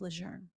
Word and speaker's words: Lejeune: it correctly I suppose it should be Camp Lejeune so I will correct myself on that um